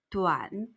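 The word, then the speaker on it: 短: 짧을 단자를 쓰고 중국어로 DUAN 삼성, 두안 하고 소리냅니다. 짧다, 두안. 성모가 없는 우한 소리를 가진 단어의 발음 기호는 W로 시작하며 끝나다를 뜻하는 단어가 있습니다.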